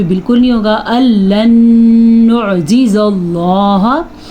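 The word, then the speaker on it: اللّٰه: نہیں ہوگا۔ لن نعجز اللہ، اللہ کا نام پر پڑھنا ہے کیونکہ اللہ کے نام سے پہلے زبر ہے۔ فی الارض، را پر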